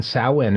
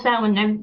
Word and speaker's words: Samhain: I know it's spelt Samhain, which is not how it's pronounced.